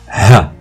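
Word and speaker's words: ه: niveau de la prononciation le ha c'est la lettre la plus profonde de l'alphabet arabe pour la prononcer ça fait ha ha ha pour la lettre wou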